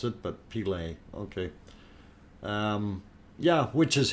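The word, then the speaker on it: Pele: uh sending map now peely's hair uh in iceland it's uh witch's hair pilay yeah like the brazilian footballer okay um very good uh didn't know how to pronounce it but pilay okay um yeah which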